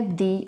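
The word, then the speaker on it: the: अगर sound consonant sound है तो हम द बोलेंगे, और अगर इसके बाद वाले साउंड वावल साउंड है तो हम इसको दी प्रोनाउंस करेंगे.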